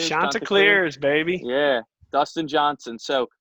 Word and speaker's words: Chanticleers: Chanticleers? The Chanticleers, baby.